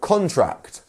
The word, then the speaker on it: contract: as I said before contract is the where we have the stress on the first syllable two syllables in contract and then we have our stress contract um and as I said before it changes the word completely if we move the stress to the second syllable which which is contract which u means something completely different um next up we